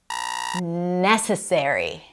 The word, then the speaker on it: necessary: Necessary. Necessary. Not necessary. Necessary.